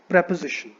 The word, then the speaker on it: preposition: और इसके प्रोनाउंसिएशन में स्टूडेंट्स क्या मिस्टेक करते हैं, इसको बोलते हैं प्रीपोजिशन. इसको प्रीपोजिशन आप ना बोलो. द राइट वे टू से this word is प्रेपोजिशन. इट इज नॉट प्रीपोजिशन, इट इज प्रेपोजिशन. इट इज preposition.